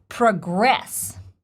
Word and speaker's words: progress: and according to the dictionary the verb is pronounced progress practice speaking English daily and progress progress progress